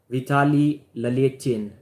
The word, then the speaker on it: Vitaly Laletin: Kamil Jablonski versus Vitaly Laletin. If I pronounce it in Russian accent, they'll say Vitaly Laletin. It's almost the same.